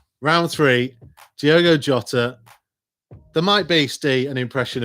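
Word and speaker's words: Jota: themselves right round three diego jotter or diego shotter as perhaps it should be in portuguese question number one wolves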